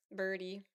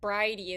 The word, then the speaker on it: Bridey: just realized that um I called Bridey is actually her name. Now that I'm looking at the way it's spelled in my notes I'm like her name isn't Birdie. It's Bridey. I think Roxy says Rocky says like Bridey.